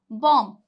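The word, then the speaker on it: bomb: और रूल है देखिए अगर एम के बाद बी आए तो बी साइलेंट रहेगा अगर एम के बाद बी आ रहा है तो बी साइलेंट रहेगा जैसे कि एग्जांपल देखिए बॉम्ब बॉम्ब अब बहुत से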